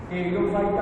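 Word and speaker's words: Pteridophyta: इसमें देखिए T silent होता है, टी से चुप करके टेरिडोफाइटा होता है।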